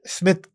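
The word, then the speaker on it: Psmith: मुख्तलिफ दिखाने के लिए साइलेंट पी अपने नाम के साथ लगाता है। तो पेजी वुड हाउस की अगर आपको आपको स्मिथ सीरीज को सर्च करना है तो पी एस एम आई टी एच करके आप सर्च करें जी जी जिसमें पी साइलेंट है पी साइलेंट जी तो ये जो पहली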